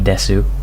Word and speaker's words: desu: my bio is I'm kawaii desu pronounced des you know use of